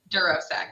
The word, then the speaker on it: DuroSec: And I think I pronounced your business name wrong. It's DuroSec, right? DuroSec.